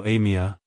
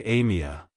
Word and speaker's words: Amia: cultures it's pronounced as Amia Amia Amia to pronounce it correctly emphasize the a sound at the beginning followed by a soft me and ending with a short sound like hello Amia goodbye Amia if you found the